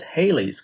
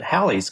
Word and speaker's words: Halley: if you're if you're inclined to pronounce it hayley's comet it's because you're confusing hallie the historical figure with haley in the comets a nice 1950s 1960s